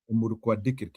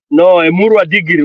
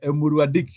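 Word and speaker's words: Emurua Dikirr: No, inaitwa Emurwa Digiri. Wachana na Gachagua. Gachagua hawezi pronounce hiyo jina. Emurwa Digiri. Digiri. Ama unaweza Digiri. Unaweza sema Digiri ama Dikir. You know, depending on how you wengine tunasikia wakisema Emurwa Dik. Unaweza sema Emurwa Dik.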